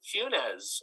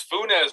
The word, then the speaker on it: Funes: few other teams cunes am i pronouncing that right or it's just funes tell me how to pronounce it it's uh it's funes but don't worry my